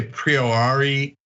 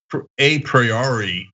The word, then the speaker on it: a priori: it um and and i used to say priori and it sounded so awkward and it's somewhat right there is an alternative explanation uh pronunciation there but i'm like i gotta stop saying it a priori sounds ridiculous um but have